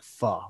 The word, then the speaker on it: pho: Pho, like kind of like fa la la la la, like pho, like that. Yeah. A lot of people mispronounce and say pho. It's not how it's said. It's pronounced pho.